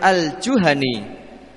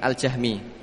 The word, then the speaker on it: al-Juhani: Dari Uqbah bin Amir al-Juhani, itu membacanya al-Juhani, bukan al-Jahmi. Bisa dirubah tulisannya al-Juhani, pakai N.